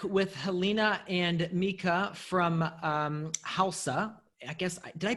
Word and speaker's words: Hälsa: So we are back with Helena and Mika from Hälsa. I guess, did I pronounce that correct this time? Yeah, Hälsa. Hälsa. It's Swedish. That's Swedish for health.